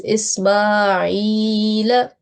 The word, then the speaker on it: إسماعيل: Ismail. Yes. So we should prolong this ya for 2 seconds because it is ya maddiya. Okay. So it is Ismail.